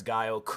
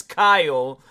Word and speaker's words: Kyle: It honestly felt like that Bradley Cooper was the Chris Guile um Chris Guile Kyle proper way of pronouncing his name.